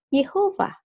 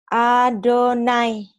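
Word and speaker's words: יהוה: Ini untuk menunjukkan bahwa ini adalah Yud-He-Vav-He yang sebenarnya bisa dibaca dengan Yehovah. Tetapi tata krama Ibrani melarang itu. Harus dibaca dengan Adonai, Tuhan.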